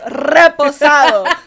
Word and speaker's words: reposado: appropriated Mexican culture, and she can't even pronounce the words. It's reposado. It's not reposado. It's reposado. Learn to say what you're flipping selling.